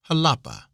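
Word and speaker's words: Jalapa: flesh is air to halapa is pronounced as though it were spelled with an H with a soft sound to the a halapa there are many cotton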